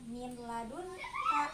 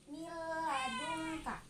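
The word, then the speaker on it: مِن لَدُنكَ: Ini nun matinya bertemu dengan lam, dibacanya bukan min ladun ka, tetapi mil ladun ka, karena nun matinya ini dileburkan ke dalam huruf lam, ke dalam huruf idgham bila guna.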